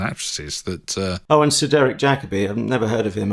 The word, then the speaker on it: Jacobi: And Sir Derek Jacobi. I've never heard of him. I think he's new to the scene, isn't he? Yeah, I think it's pronounced Jacoby, but...